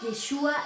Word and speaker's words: Yeshua: Yeshua se escribe así, Y-E-S-H-U-A, Yeshua.